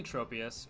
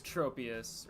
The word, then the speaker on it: Tropius: I say Tropius, or I say Trop. I say Tropius, like tropical, but I think both works.